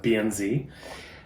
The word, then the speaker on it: BNZ: accounts i'll talk about bien zed they pronounce the zia zed but for those of you who speak the american english it's a bnz it is a pretty